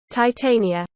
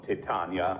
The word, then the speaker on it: Titania: How does it sound with a British pronunciation? Titania.